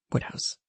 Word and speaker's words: Wodehouse: for us today is what looks like Wodehouse is actually pronounced what house PG woodhouse did not